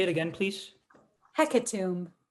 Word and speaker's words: hecatomb: say it again please hecatomb hecatomb am i saying it right hekatum you got it um hecaton h e